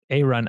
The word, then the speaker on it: Aaron: A-Run. It took me a while too. So it pronounced, I had never heard it, but it's like instead of B-Run, it's A-Run.